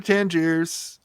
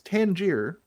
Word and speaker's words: Tangier: like that over to Tangers I don't why do they it's Tangier why do they always pronounce it Tangers what's the deal I